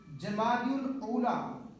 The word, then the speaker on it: جمادی الاولیٰ: لغت کے اعتبار سے ان 2 مہینوں کے نام درست نام اور صحیح تلفظ یہ ہیں جمادی الاولیٰ اور جمادی الاخریٰ.